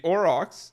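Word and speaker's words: aurochs: or Oro I orox I would say this pronounced orox a o r a u r o c h at the bottom bottom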